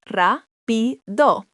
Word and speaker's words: rápido: Fast is rápido, pronounced rápido.